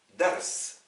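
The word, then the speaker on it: درس: RA et le sin si vous prononcez ce ce mot comme un nom vous vous contentez de mettre une fatha un a à la première lettre et rien aux deux autres voici donc dars dars veut dire un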